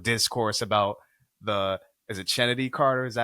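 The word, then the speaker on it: Chennedy: I see a lot of discourse about the Is it Kennedy Carter? Is that how you pronounce her name? Yeah, Kennedy. Kennedy. It's odd. It's Kennedy with a CH. It's CH, Okay, but it's Kennedy.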